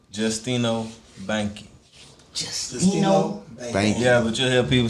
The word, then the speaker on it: Banche: You pronounce the name GIUSTINO BANCHE. GIUSTINO Bank.